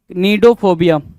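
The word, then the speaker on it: cnidophobia: Next की बात करें 43 नीडोफोबिया। क्या सी साइलेंट करोगे? नीडोफोबिया बोलोगे उसको।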